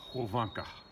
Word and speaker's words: Hyvinkää: But I wanted to tell you that it is pronounced Hvanka, Finland. Now you know.